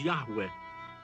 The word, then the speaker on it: Yahweh: god whose name modern Scholars reconstruct as Yahweh and many Christians pronounce Jehovah very Orthodox Jews traditionally